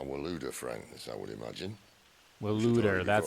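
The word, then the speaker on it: Waloed: Waluda, that's how you pronounce it.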